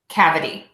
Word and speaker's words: cavity: way to practice so we want to make sure that middle syllable is super duper short the shortest syllable in the word and syllable number one will be the longest syllable in the word so we have purrr Cuddy Quoddy of a deep so purity quality cavity give those a try